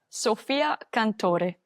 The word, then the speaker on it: Sofia Cantore: I missed, how do we pronounce this player's name? Sofia Cantore.